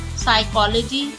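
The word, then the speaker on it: psychology: Piece island piece island first letter में ही psychic psychic साइकोलॉजी साइकोलॉजी pneumonia pneumonia इनमें सब में पी साइलेंट है।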